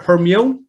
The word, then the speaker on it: Hermione: chon is saying with her how do you pronounce her hermione hermione hermione hermione with hermione still um